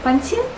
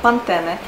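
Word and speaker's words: Pantene: Поэтому, например, шампунь «Пантин» в чешских рекламах звучит как «пантене», потому что побуквенно он по-чешски читается как «пантене».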